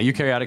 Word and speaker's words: eukaryotic: cells how do you say that yeah yeah eukaryotic cells yeah so um the request basically was